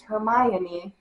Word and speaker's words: Hermione: to correct me, but it's Hermione. I know, but we just slur the letters together.